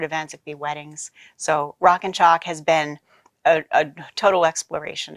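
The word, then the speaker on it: Rockin Chalk: all that yeah sure rock and chalk and now I have to spell it because it sounds like a shock but it's like a chalkboard rockin ro ckin ch ALK dot-com and you can just you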